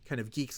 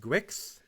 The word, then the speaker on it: Guix: use very soon is within kind of the geeks community.